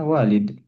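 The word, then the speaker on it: والد: ABY iya lurusulah iya malah jadinya salah atau keliru dalam membaca teks ya walid dan walad bedanya tipis. Kalau walad itu enggak ada alif, walid ada alif. Makanya panjang pendek nih hati-hati bisa jadi keturker.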